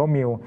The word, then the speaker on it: Mu: ชื่อ ว่า เชื้อ มิล Mu อ่าน ว่า มิว ตอน แรก นะ ว่า